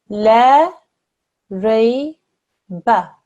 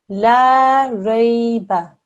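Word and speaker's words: لا ريب: If we read essentially the same letters in the next word here, but we don't have a alif madda after the lam, okay? La rayba. La rayba. The meaning of that is sure doubt. Reading this lam with an alif madda afterwards, if we were to read this incorrectly and do it only for 1 second, as is the case here, not only do we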